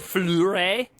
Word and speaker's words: Fleury: Is it Fleury? That's perfect, actually. I've That never was, pronounced was leaning better.